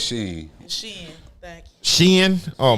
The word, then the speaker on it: SHEIN: I would only shop on SHEIN after a recommendation like that. I swear it's SHEIN.